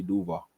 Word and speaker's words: Duval: I'm not even from I know how to say it doall you gota learn how to say it fam if you want to be the head coach of the Jacksonville Jaguars you got to know how to say Duvall that's mandatory right there